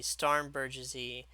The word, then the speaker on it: Starnberger: wanted to call the Starnbergersy the Starn what is it, the Starnberger. Like I wanted to pronounce it French, but it's actually a German word.